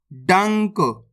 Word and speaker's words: डंक: डाम अनुस्वार की मात्रा डंग, क, डंक।